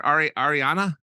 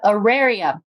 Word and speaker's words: Auraria: Ariana? Yep, Auraria.